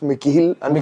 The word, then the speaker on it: Mikhail: Secondly now coming to Mikail Abdullah. Mikail Abdullah का यार being a fan. Actually we speak his name wrong. It's Mikhail.